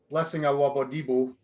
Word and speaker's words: Blessing Awodibu: So when newer guys like Blessing Awodibu, that's how you say it.